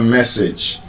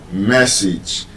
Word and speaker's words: message: When you have the letter A in A G E, that A would usually give you the short I sound.